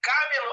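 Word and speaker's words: κάμηλος: Então, olha só como é que eu pronuncio. Camilon e Camelon.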